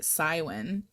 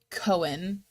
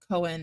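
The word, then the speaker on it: Cywen: Because I say it Cywin, but the audiobook said Cohen, And somebody replied to me and was like, it's a Welsh name, and in Welsh, uh Cohen is correct.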